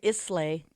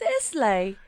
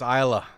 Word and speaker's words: Islay: Which a lot of people pronounce Isle of Islay.